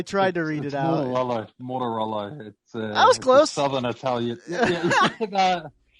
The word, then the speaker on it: Mortaruolo: Mortaruolo.